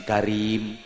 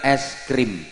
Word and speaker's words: es krim: Sama orang Kebumen dibaca alif, ya, sin, karim. Padahal yang bener es krim itu.